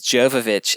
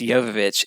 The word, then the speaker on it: Jovovich: I always thought it was Nia Jovovich. They have an argument about her own name? Yeah, because Michelle Rodriguez says Jovovich every time, and it's pronounced Jovovich, and Mila is like, it's Jovovich, Jovovich.